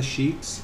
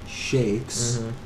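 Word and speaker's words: sheikhs: the Sheiks and Sh some of the shics and shakes mhm we we'll say it correctly shakes in Saudi Arabia are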